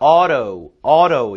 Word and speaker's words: auto: 오토가 아니라 auto 이렇게 발음된다는 거 주의하시기 바랍니다.